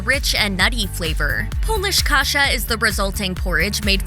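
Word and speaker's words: kasza: of Kasha is kasha which is pronounced the same but spelled with a z instead of an H polish Kasha is made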